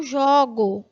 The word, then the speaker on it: jogo: Então é muito diferente você ver que a pronúncia, né, do primeiro O do substantivo jogo é fechada. Eu vou acentuar, não que essa palavra tenha acento gráfico, segundo o registro padrão. Só para você perceber a pronúncia, tá? Então, essa daqui, ó. O. Ou seja, o substantivo, primeiro O fechado, no verbo, o primeiro O é aberto.